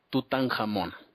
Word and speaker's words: Tutankamón: En egipcio esto se dice Tut-Ankh-Amón, o sea que si lo pronunciamos de corrido diría Tutankamón, ¿no?